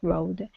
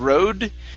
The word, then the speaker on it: robe: She was wearing an assorted-colored house robe and sandals. Okay, all right. Let's make sure that we're pronouncing a B sound here instead of road. It's robe.